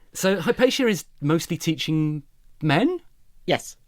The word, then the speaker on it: Hypatia: Okay, so Hypatia or how did you pronounce it? Hypatia Hypatia That sounds slightly like you're sort of I don't know.